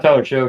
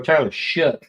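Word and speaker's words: Shough: Not Tyler Show. Tyler Shook, isn't it? I keep hearing announcers calling his name wrong, but Tyler Shook on the Revolution.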